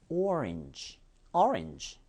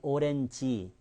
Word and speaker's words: orange: O와 R 사이에서 끊깁니다. 그래서 or. 그리고 성조는 보세요. or. 그 다음에 렌지가 아니라요. inge. orange. 물론 경우에 따라서 좀 약간 orange. 이렇게 변화들은 있어요. 그렇지만 한국 분들이 말하시는 오렌지 이런 발음은요. 절대 통하지 않습니다.